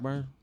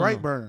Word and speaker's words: Brightburn: Blackburn? Is it Blackburn? Am I saying it wrong? Oh, Blood. Oh, No, no, no. Brightburn.